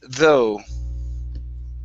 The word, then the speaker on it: though: so we're putting only the stress at the very end instead of understood okay try that okay understood okay good uh this word here is pronounced though instead of the it's though okay so okay give